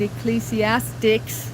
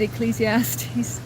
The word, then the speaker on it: Ecclesiastes: I didn't uh read Ecclesiastics, as I call it. I'm one of those who pronounce it wrong. I didn't read Ecclesiastes chapter 3 verse 1 and verse 11.